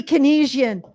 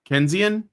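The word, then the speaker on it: Keynesian: to have an economic discussion with a dirty Kenisian. Canian? Sorry. Um what's that? No, I mispronounced I mispronounced it.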